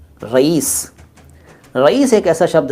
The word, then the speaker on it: रईस: है वो अपना नाम रहीस बताते हैं, रहीस। और कई लोग तो रहीश कहते हैं, रहीश, रहीश अहमद ना। सही शब्द है रईस, रईस। साउंड जो मैंने बोला वो आपने सुन लिया ना, वही उच्चारण है, रईस।